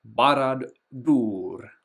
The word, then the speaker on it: Barad-dûr: Whenever you have a little accent or I like to call it the chapeau over a letter, you pronounce that much much longer. Um I'll just move these back. So, Barad-dûr would be the pronunciation here.